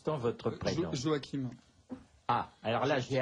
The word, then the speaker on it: Joachim: prénom à leur manière se prononce comme chute donc chute joa si vous jouez à saint-joachim nous ne sommes pas